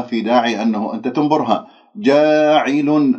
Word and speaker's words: جاعل: جاعل ليس جاعل، لا تمل الألف، خلي الفم بالوضع الطبيعي واللسان مرتاح، ما في داعي أنه تبتسم بالشفاه تقول جا، أو أنه تسحب اللسان إلى الخلف وتجعل اللسان منبسط.